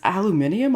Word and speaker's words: aluminium: though you're in the guy this is this aluminium on my head what oh thank you for pronouncing it correctly as well well okay like